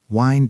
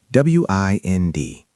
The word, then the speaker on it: wind: Wind down. W I N D. Like the wind. No. Pronounced wind. Like winding a clock.